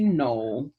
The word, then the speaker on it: knoll: working on this one it's an elephant word and the k is silent no all right read with me tours of the grassy knoll where jfk was assassinated